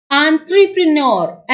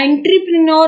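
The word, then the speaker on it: entrepreneur: एंटरप्रेन्योर, एंटरप्रेन्योर नहीं बोलना है इसको, आन आ से बोलना है, ठीक है, ये याद रखना है। आन ट्र प्र ने य र, ठीक है, ऐसे बोलना है एंटरप्रेन्योर।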